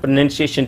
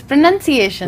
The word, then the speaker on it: pronunciation: Most people say pronunciation. No, see, it is pronunciation. Pronunciation. Yes. So let us learners look at this word here. Pronounce. Say it. Pronunciation. Pronunciation. So we put stress here.